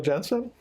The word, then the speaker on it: Jeanson: discussion with jensen uh am i pronouncing that right genesis we say jeans and just because it's spelled like blue jeans but i respond to